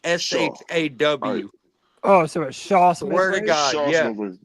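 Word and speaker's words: Chau: say something yeah go ahead SE it's actually Shaw c h Au is actually pronounced sha like s h a w oh sh swear to God swear to God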